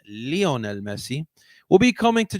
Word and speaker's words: Lionel: of course it is Lionel that's not how you say his name guys I'm just kidding that's not how you see this whole Lionel Messi coming to Philadelphia it's Leonel Leonel all right not lion it's the amount of